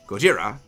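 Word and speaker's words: ゴジラ: However, Ken Watanabe, being the absolute based Chad of a human being he is, specifically insisted that they use the Japanese pronunciation Gojira because, one, he is Japanese, but also the character he is playing, Dr.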